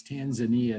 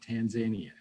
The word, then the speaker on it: Tanzania: the families affected tanzania i always want to mispronounce that word and one of our former ambassadorial scholars educated me that's tanzania not tanzania i can't see that